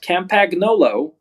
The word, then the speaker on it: Campagnolo: to it as campy let's go Sammy so CA mpag n o L o the fine Italian maker of bike components is actually pronounced it's not Campagnolo it's cam pen and then you only live